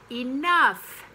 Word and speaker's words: enough: country it's country so enough it looks tricky with the oh you and the gh but it's enough uh so i hope